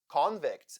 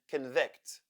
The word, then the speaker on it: convict: convict and convict so in the first case the first syllable is stressed and closed like con right those the letter O sounds like or coni in the other case the second syllable is stressed and the first is oness so in the first syllable letter O sounds like convict there are three General